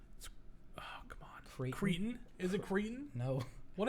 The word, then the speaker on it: Creighton: And then we got Tennessee and I always say it wrong, but it's oh come on, Creighton.